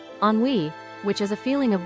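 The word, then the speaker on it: ennui: This is also a word of French origin, but is easy to pronounce. on wei which is a feeling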